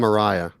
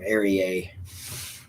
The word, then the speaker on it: Araya: Yeah, that's the pronunciation. That Araya thing. Yeah. I always, for some reason, wanted to call him Ariye.